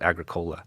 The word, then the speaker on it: Agricola: I think you'd pronounce it Agricola, and that's probably an embarrassing pronunciation, but what am I going to do?